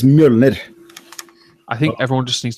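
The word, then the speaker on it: Mjölnir: But it's not fucking Mjolnir. Fuck you guys. It's Mjolnir. Depends. Mjolnir. Does not depend. It depends on what you come from. Yeah, but the Norwegian pronunciation is Mjolnir.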